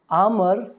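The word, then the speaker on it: armour: यहाँ पे आर थोड़ा साइलेंट होता है, हल्की सी आवाज़ रहती है। वैसे तो बोलेंगे आप आर्मर भी बोल सकते हैं, आर्मर, लेकिन अंग्रेज की तरह थोड़ा बोलेंगे तो आर थोड़ा सा दब जाता है, आर्मर, आर्मर, ठीक है।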